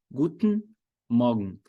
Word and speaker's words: Guten Morgen: Ravili, mas se eu quiser falar assim, ó, Guten Morgen, eu posso? Pode, mas você quer soar natural ou você quer soar quadradão? Se você quiser soar natural, Guten Morgen.